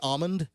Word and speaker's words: almond: it by the way i'm a silent l person i say almond some people say almond and pronounce the l but i don't know